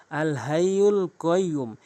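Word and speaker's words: الحي القيوم: বলছি আল হাইুল কাইয়ুম এখানে মানুষ দুইটি ভুল বেশি করে থাকে আল হাইয়ুল কাইয়ুম এখানে ছোট হা উচ্চারণ করে ফেলে এখানে কফের জায়গায় কাফের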